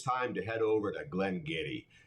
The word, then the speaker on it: Glen Garioch: to head over to Glenn Getty spelled so differently than it's pronounced in fact if you pronounced it the way it was spelled it'd be glengariosh look it up a